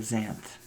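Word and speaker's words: Xanth: them back under the land of zanth that's spelled x a n t by the way if anybody it's it's it's a play on a mathematical um expression x x to the nth in any case I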